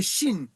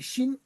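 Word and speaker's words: שין: D Alors, les dents en en hébreu, c'est Chine comme comme Chine comme comme le pays Chine les dents parce que je suppose que lorsqu'on prononce Chine, on est obligé de serrer les dents pour le prononcer.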